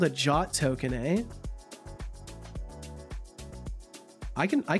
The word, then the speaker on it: JWT: to a Game Dev it's pronounced a jot token is it now good